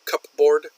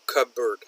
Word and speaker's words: cupboard: We don't say cupboard, but cupboard.